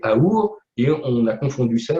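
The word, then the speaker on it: אור: Le mot or vient du mot hébreu aor qui veut dire lumière. Et entre parenthèses, la lettre du milieu, le vav, se prononce ou aussi, et c'est aour, et on a confondu ça, on l'appelle l'amour.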